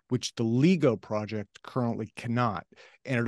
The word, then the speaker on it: LIGO: A LIGO, I would call it LIGO, that's the way I pronounce it, is a very low frequency detector of low frequency gravitational waves around 100 hertz.